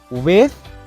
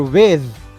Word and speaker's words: with: hair is my cousin you can pronounce the word as with or with soft and hard th sound in the word are both accepted and that ends